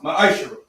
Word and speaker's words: ma'ashar: It means 10th in Hebrew, and it's pronounced ma'ashara.